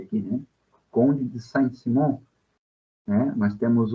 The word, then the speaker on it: Saint-Simon: Um dos mais famosos é o Saint-Simon, né? Conde de Saint-Simon, a gente pronuncia aqui, né? Conde de Saint-Simon, né?